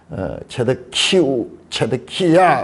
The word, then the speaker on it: 시드기야: 자, 이게 시드기야, 우리말로는 시드기야 이렇게 되어 있는데 정확하게 읽으면요. 체데키우. 이거는 체데키누예요. 체데키누. 이렇게 끝자리가 달라요. 이거는 체데키야. 우리가 근데 야에다 뒤에 우가 붙었어. 치드큐. 그 요 발음을 좀 약화시켜가지고 그냥 시드기야 그렇게 했는데 체데크가